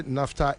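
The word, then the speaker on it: naphtha: Or say NAFTA is spelled N A P H T H A.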